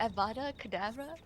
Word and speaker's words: Avada Kedavra: So the DA is silent. No, it's Ava. Oh, the first DA. Yeah, the first DA is. Avada Kedavra. Yeah, it's Yeah, I kind never. of silent. Yeah, that's silent. Because abracadabra is what it's based off of.